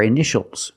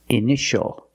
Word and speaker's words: initial: this word initial or initials more than one we see TI a together so the t is pronounced sh sh initial initial my initials are